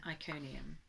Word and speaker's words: Iconium: Today we're looking at Acts 14, and this is when Paul arrives in Iconium.